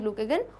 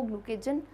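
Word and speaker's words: glucagon: The endocrine portion of pancreas secretes insulin and ग्लूकेगन hormones. ग्लूकेगॉन कह सकते हो, ग्लूकेजन, सबके अलग अलग प्रोनाउंसिएशन होते हैं, सो no worries with that.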